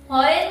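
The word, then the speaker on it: foreign: इ आय जी एन परंतु जी चा उच्चार करायचा नाहीये. फॉरेन म्हणायचं फक्त काय म्हणायचं फरेन फॉरेन एन च्या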